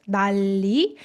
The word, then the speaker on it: 난리: So following the consonant assimilation, this is pronounced like 난리.